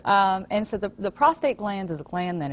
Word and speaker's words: prostate: the first okay and I'm really glad that you said it right because I hear a lot of prostrate and prostrate something different it's something different that's when you're flat on the ground exact prostate is what we're talking about today um and